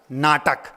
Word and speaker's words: know: शब्द है एक, कर्नाटक, कर ना अटक, कर ना अटक और कर नाटक।